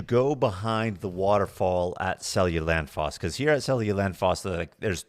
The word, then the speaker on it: Seljalandsfoss: I think when we went, I remember Googling it and it's like Seljalandsfoss. Seljalandsfoss. Yeah, they pronounce their J's like Y's.